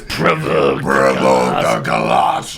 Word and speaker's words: Provoke the Colossus: Now you keep pronouncing it wrong, man. It's Provoke the Colossus.